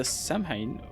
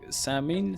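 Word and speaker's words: Samhain: And so those people have been gathered here at the Samhine where wait it's not it's like samine salmon I think it's like salmon pronounced where and when the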